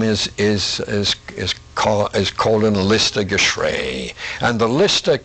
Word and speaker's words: Colin: uh actually it's pronounced Colin most of the time but in honor of the both the transverse and the descending colon of the human body I decided on that pronunciation all right that makes